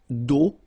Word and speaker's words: d'eau: And then when you combine these two, these three vowels, E, A, U, you get the sound O. Only O. Okay. Une conduite d'eau potable.